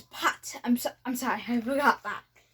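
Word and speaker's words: pattes: Now you say pause in French is pot.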